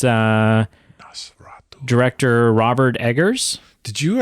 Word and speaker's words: Nosferatu: It's Nosferatu.